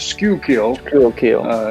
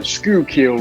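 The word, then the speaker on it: Schuylkill: of thing but uh you pronounce that as skull kill scukil river and uh right up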